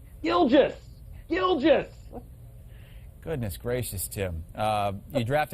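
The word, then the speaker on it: Gilgeous-Alexander: What'd you call Shea Gillius Alexander? Shea Gilligan's Alexander? Gilgis!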